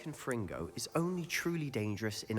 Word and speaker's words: Confringo: The incantation is Confringo. Very well. Confringo. My apologies for mispronouncing that earlier.